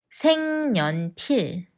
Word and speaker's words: 색연필: 갈 거야 내일 친구랑 백화점에 갈 거예요 생년필 생년필 usually V sound just takes a in